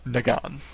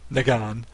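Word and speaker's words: Negan: be hearing it so I'm just going to pronounce it nagan and I don't even know if the last name cook is correct or not but it's such a different first name nagan that I'm going to assume it's the same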